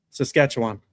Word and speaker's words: Saskatchewan: Hey Josh, say say Saskatchewan. How'd I do? Saskatchewan. Yeah. How' I do? Saskatchewan.